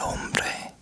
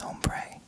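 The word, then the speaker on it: hombre: means case ELO El ombre El ombre man El ombre so in espanol or in Spanish we don't pronounce the h so it's not om I know a lot of you think it's ombre it's ombre El ombre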